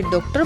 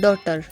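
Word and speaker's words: daughter: कुछ लोग इसे डॉक्टर बोलते हैं जो कि रॉन्ग प्रोनाउंसिएशन है, इसकी राइट प्रोनाउंसिएशन है डॉटर बेटी।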